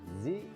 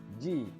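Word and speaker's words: じ: Diambil dari huruf si, dikasih teng-teng, maka jadilah zi atau ji. Jadi pelafalannya boleh dua, boleh dilafalkan ji atau zi. Tapi rata-rata orang Jepang melafalkan ini menjadi ji ya minasan ya.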